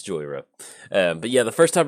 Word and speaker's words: Jhoira: draw a card and it's not it's not Joe hora if you're sitting there watching the video like Joel did you mispronounce joiosa no no no it's Joy era but yeah the first